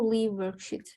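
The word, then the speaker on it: Liveworksheets: I ask you something how do we pronounce uh this page live worksheet or leave worksheet I say live worksheets and I think it is live worksheets because yes it's John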